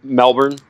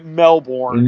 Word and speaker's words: Melbourne: Call the Melbourne, or you guys pronounce that a little bit differently than an American would. It's like if I pronounce it the Australian way, everyone's just like, "You're such a like, don't do that."